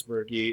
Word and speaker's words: Birky: It rhymes with my name, Chase Birky.